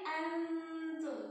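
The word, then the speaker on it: أنتم: Pakainya n, antum. Tapi n-nya enggak n banget.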